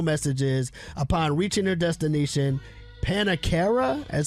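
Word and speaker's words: Pannakara: In her final messages, upon reaching their destination, Panakara is how you say his name.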